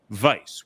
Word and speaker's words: Weiss: Courtney Courtney still wonder when that last name of Keaton stopped being pronounced Vice well it is I mean technically it is pretty it is vice in German they would say it's advice but uh Weiss is German for white and so Keaton white